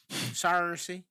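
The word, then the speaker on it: Saoirse: Sarcy.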